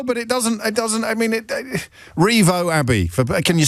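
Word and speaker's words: Rievaulx: Oh, Revo Abbey?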